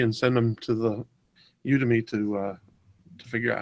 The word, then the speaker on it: Udemy: By the way, I found the site where I actually bought the course, and it's called Udemy, as in like you to me, only it's spelled Udemy.